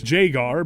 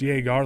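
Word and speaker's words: Jagar: mostly them mispronouncing Jaar Thorn's name as Jaggar, but I don't care. I won't back down. It's Jaga, like Jaggermeister. I'm going to link the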